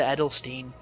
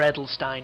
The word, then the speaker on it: Edelstein: One saddening part is one of the main characters, an actress called Lisa Edelstein, or Edelstein depending on how you pronounce it.